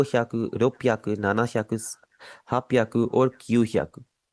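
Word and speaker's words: ななひゃく: 700 को आप बोलेंगे नाना ह्याकू। कभी भी आपने इसे शी ह्याकू नहीं बोलना।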